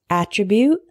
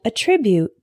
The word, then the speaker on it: attribute: with me alternate alternate the next one is attribute and attribute attribute is a noun meaning a characteristic of